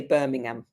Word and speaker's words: Birmingham: absolutely wonderful so we we don't pronounce the h we just say Birmingham birmingh say I got